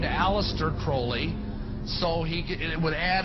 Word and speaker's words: Crowley: to have his name pronounced Crowley to rhyme with holy and uh the satanists